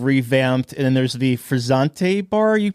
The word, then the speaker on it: Frizzante: And then there's the Frizzante bar. You pronounced it, right? Yes, Frizzante.